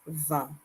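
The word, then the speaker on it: vingt: So 20 is pronounced 20, 20. You say it as if you, and your lips, especially the bottom lip, it is very taut, like you're giving a fake smile.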